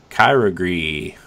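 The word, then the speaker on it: Kyogre: raid battles including the return of legendary Pokemon Kyra Gris I said that right right yep I got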